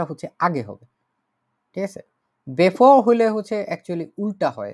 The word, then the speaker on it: bevor: Before. Before. Before. Before. ঠিক আছে, এটা ইংরেজির বিফোরের মতোই, ইংরেজির বিফোরের মতোই, কিন্তু ডয়েসে হচ্ছে ভিটাকে কিছুটা এফ এর মতো উচ্চারণ করা হয়, কিন্তু এই বলে ইংরেজির মতো একদম হুবহু বিফোর হবে না।